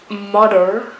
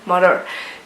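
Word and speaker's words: MOTHXR: Ok, mais je ne sais pas comment le dire, je suis pas certaine, mais je pense que c'est Mother, mais ça s'écrit M-O-T-H-X-R. Mais je pense que ça se dit Mother.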